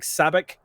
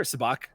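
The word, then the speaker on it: sabacc: are what looks like sabic games that are happening here sabach if you want to pronounce it correctly but not me um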